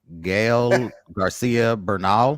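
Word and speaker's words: Gael García Bernal: I don't know how to pronounce this young man's name. Gael Garcia Bernal.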